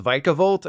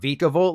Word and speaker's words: Vikavolt: its final evolution is actually pronounced vikavolt and not viavolt like Von I decided